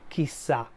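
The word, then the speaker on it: chissà: is literally who knows this is one single word he sat with the stress on the last letter but it originally was two separate words Ki which means which means nose you put them all together you double the S and you put the accent on the last a Kisa who knows Dove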